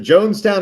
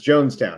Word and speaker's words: Johnstown: Is it Jonestown or Johnstown? It's Jonestown, right? It's spelled Johnstown, but it's probably pronounced Jonestown.